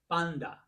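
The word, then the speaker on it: πάντα: Start with this word panta. Panta. Now it's spelled panta. This is an N and this is a T. But the modern Greeks actually say this as panda.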